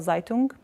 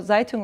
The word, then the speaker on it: Zaytung: It's called Zeitung, as reference to Zeitung, but that's spelled Zaytung.